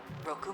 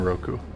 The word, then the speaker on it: Roku: Roku Monsen. Okay, so you do pronounce the U in Roku, Commencing evaluation.